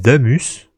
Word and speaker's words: Damas: Mais je crois que dans les cinématiques, ils disent damus. Ça s'écrit Damas, mais ils disent damus.